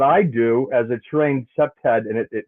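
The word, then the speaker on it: CPTED: do as a trained septad and it it it's it's pronounced septed.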